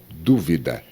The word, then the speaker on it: dúvida: Por exemplo, dúvida e duvida. Dúvida é um substantivo, duvida é um verbo, ele duvida.